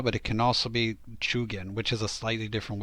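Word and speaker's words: 中間: talking about Samurai attendance the word is chugan so nakama that pronunciation of nakama that is specifically for guilds and chug in is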